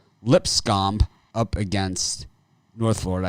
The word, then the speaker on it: Lipscomb: Lipscomb up against North Florida. I know it's Lipscomb, but I like calling it Lipscomb.